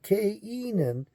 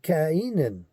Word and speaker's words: Cainan: I didn't know how I was going to pronounce that, so I'm going to say Cainan, because this is Cainan. This is not Cain, and it's not a Canaanite.